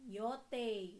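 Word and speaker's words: よてい: Oke berikutnya yo tei yotei. Nah yang bunyi ei ini em dalam bahasa Jepang dibacanya menjadi yotei. Yote e ya di sini meskipun ditulisnya i.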